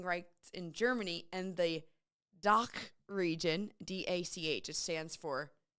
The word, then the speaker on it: DACH: And I had a friend who speaks German tell me how to say it, and it's like, ugh. She's like, oh, like you're saying, ugh.